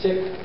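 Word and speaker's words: Sikh: on a spiritual path the proper pronunciation is sick Americans would be a little uncomfortable with that so it's called seek and it literally means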